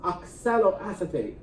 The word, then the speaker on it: oxaloacetate: you really know how to stop here it's pronounced oxaloacetate and if you think that's a tough one